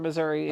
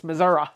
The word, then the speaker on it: Missouri: she is she's Missour Missouri Missour is that how you say it off my mother my S my stepmother was from Missouri and she said it's not Missouri it's Missoura it's Missoura well for